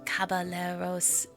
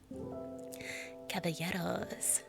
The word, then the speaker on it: caballeros: Oh, it's more like a Y sound. Oh, okay. Oh, it's like quesadilla.